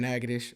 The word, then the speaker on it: Natchitoches: town Louisiana I'm from nages i r heart you know what I'm saying everybody know that Nick braen is from nages it's spelled crazy you can't read it it's hard it's hard n a t c